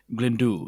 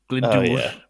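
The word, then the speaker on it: Glyndŵr: is pretty good but they don't roll it's a bit like Glendo it's not like glind but they do say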